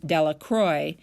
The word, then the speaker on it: Delacroix: Jones and Dicky delacro the villagers pronounced his name Delacroix eventually made a great